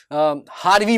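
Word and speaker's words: Javier: उसी तरीके से हारवी बोला जाता है। लेकिन हारवी का स्पेलिंग कैसे होता है?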